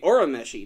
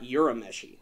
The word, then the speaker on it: Urameshi: Ah, it's Yusuke Urameshi, not Urameshi.